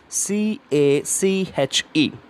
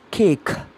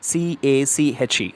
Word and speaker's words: cache: our hand snuff right and the word is C a CH e of ass we pronounce this word as cake it is not an eatable item so it's